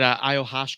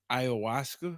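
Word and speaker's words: ayahuasca: what what happens at aashka did I say it nope how you say it aaska Iowaska sure so whatever happens at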